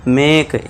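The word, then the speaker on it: make: तो उसे क्या पढ़ना है? मेक ए का साउंड करना है। मा के लिए एम लिख म कर दिया एम के लिए म और ए के लिए ए की साउंड मात्रा लगा दी। है ना? इसके बाद का के लिए क बस इ समझ लीजिए है नहीं। इ को आपको नहीं पढ़ना है।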